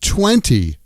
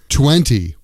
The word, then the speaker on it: twenty: A common example of this is the word twenty, twenty, eighteen, nineteen, twenty, twenty, This spelling is T-W-E-N-T-Y, twenty. But we often drop the T which comes after an N.